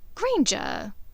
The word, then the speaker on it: Granger: Granger. It rhymes with danger, you know.